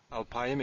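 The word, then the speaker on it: אַלְפַּיִם: I know that because I mispronounced it first and was corrected by someone I was reading with. So anyway, alpayim exists, it's used.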